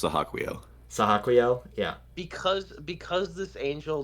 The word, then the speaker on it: Sahaquiel: Oh, so good, so Sahaquiel. good. Dude, and like that they have to I think like it's pronounced Sahaquiel.